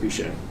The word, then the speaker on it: Bechand: And the proper pronunciation of his last name is it Bechand? Well, that's a good question. I followed the chief's lead. I think, the major's lead. I think they pronounce it Bechand, right?